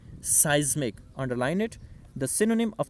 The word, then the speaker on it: seismic: And following local seismic, you will have to pronounce that word is seismic.